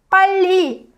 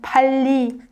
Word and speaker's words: 빨리: So the double consonant becomes high pitched naturally. It's what happens when you tense up your throat. So 빨리. and 빨리, 빨리. They sound different, right? Different in pitch. 빨리, 빨리. So 빨리 kind of sounds like you're more like shouting, and 빨리 is like more soft.